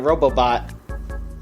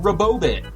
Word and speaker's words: Robobot: release of Kirby Planet Robobot. Folks, I'm actually really excited for this game. Robobot. Robobot. I Did you kept think it said thinking it was Robobot? pronounced Robobit or something.